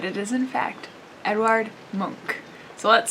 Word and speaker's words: Munch: bit about the artist so edward monk not pronounced edvard munch which is how i for a really long time thought it was pronounced and i had to